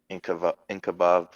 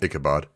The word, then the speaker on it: Ichabod: Valzer shakes his as well, and he goes, "No more slander of Inkabob. Inkabob? How do you say it again? Ichabod. Inkabod. Just Ichabod. Ichabod. Keep hearing an N for some reason.